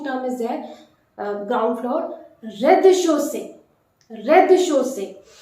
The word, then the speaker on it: rez-de-chaussée: Ground floor, rez-de-chaussée. Rez-de-chaussée. Notice the Z in the first syllable is completely omitted. You need not to be pronounced.